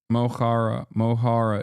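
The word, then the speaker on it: Mo Chara: Mohara is how you pronounce it.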